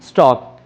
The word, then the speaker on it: stalk: Spelling होते हैं STALK। तो हम इसे पढ़ेंगे स्टॉक।